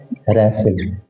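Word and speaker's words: wrestle: और अगला वर्ड है रेसल रेसल में दो लेटर साइलेंट है ड साइलेंट है और टीवी साइलेंट है तो ये रेसल बोलेगा ये क्या बोलेगा रसल इसका मतलब होता है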